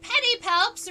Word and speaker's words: pedipalps: And pedipalps right here, the scientific name for the claw, is spelled like this. Pedi, like pedicure, like it looks like a leg or a foot. And palps.